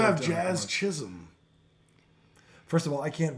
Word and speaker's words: Chisholm: Well, so many people mess his name up. They play it all the time on New York radio. They call him Jism, And they don't call they?